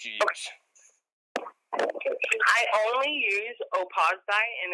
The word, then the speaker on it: Opawz: I only use Opaz dye, and it's spelled Opawz.